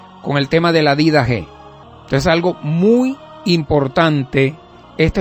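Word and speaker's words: Didaché: Didaje, con acento en la E. Didaje.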